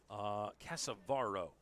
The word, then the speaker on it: Casavero: Casavaro is what it looks like here on the pronunciation guide provided to us by the fine folks at Virginia Wesleyan.